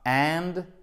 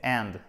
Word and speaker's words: hand: C'est un A court, c'est pas and, c'est hand.